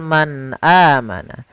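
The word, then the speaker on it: من آمن: huruf hamzah setelahnya, sehingga suara nunnya tadi harus jelas karena izhar itu adalah kita menjelaskan suara muzharnya, menjelaskan huruf yang dibaca jelas, yaitu suara nunnya harus jelas, tidak boleh ditahan, tidak boleh man amana, tidak, tapi langsung saja man amana.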